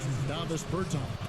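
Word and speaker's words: Dāvis Bertāns: Davis Bertans.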